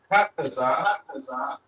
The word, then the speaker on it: Qadash: So Qadash, using the English, it's just the two characters. But here you get the full pronunciation of that character.